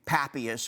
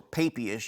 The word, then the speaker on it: Papias: a very early scholar named papias or papias you'll hear his name pronounced both ways and he says that